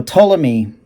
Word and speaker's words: Ptolemy: song off the album ptolemy which the p is silent i would say so ptolemy seven minutes long ten